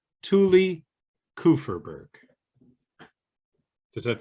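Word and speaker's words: Kupferberg: tuli's last name is kuferberg before i was trying to say coop fur but the p and f kind of blend together now the p is silent kufferberg thule kufferberg does that sound right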